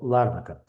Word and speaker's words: Ларнака: Помните, вчера я говорил о провинции Ларнака или Ларнака. Ну, там я еще не разобрался, куда ставить ударение, но говорят правильно, что Ларнака.